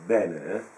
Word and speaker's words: Bene: bien ENF c'est ben en italien on pronce avec de ben il y a cette prononciation géminée du B qui est très forte car jou beaucoup